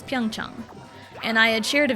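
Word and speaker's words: Pyeongchang: you know it's Korean, find like the Korean pronunciation and it's not that hard. Even if you go Pong Chong, it's still fairly correct. cuz Pyong Chong, it's Pyongch and I had shared a video of like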